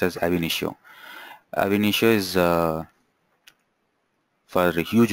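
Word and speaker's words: Ab Initio: Nish AB it is called as AB nisho ainio yeah it is pronounced as ainio ainio is uh for huge volumes of data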